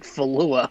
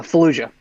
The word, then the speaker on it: Fallujah: for a second here you said falua like bless you i mispronounced it uh fallujah yeah uh yeah six